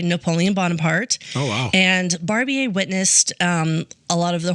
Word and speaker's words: Barbier: Yes, so next we're going to talk about Francois Barbier. Barbier? It looks like Barbier, like Barbier. Okay. But it's pronounced Barbier.